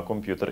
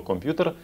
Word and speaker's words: комп'ютер: Можливо, ви будете сміятись, але добре вам знайоме слово «комп'ютер» слід вимовляти не так, як ви до цього звикли. Треба казати «комп'ютер» без апострофа, не пом'якшучи букву «П».